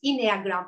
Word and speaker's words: Enneagram: I said it in Greek because Ennea is 9, but in English it's Enneagram, I think, if I pronounce it correct.